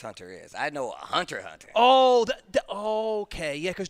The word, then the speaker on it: Hunter x Hunter: what Hunter x Hunter is I know a hunter hunter oh that okay yeah cuz Justin Justin he